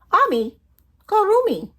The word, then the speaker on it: Amigurumi: "Amigurumi".